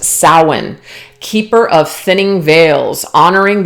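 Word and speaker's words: Samhain: eye on you this week we have the Sam Hane witch it's actually pronounced sin keeper of thinning veils honoring the ancestors Eternal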